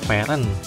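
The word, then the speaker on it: Fern: Setelah gua dengar lagi walaupun namanya ditulis kayak gini tapi dibacanya itu Fen dan ya walaupun gua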